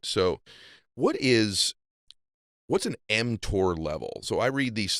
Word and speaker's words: mTOR: talk about before yeah you're pronouncing it correctly it's called mtor m stands for Mamon